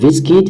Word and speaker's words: VSKIT: to make this money is called Viskit. You can see this how the app looks like. It is spelled VSKIT.